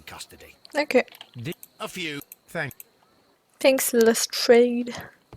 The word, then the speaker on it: Lestrade: Thanks, Lestrade. Non, il s'appelle Lestrade. Parce que... Voilà, il le prononce à la française.